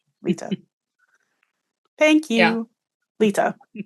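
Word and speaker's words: Lyta: in the way that in a way that Lida never did. Laida seemed very normal almost she took her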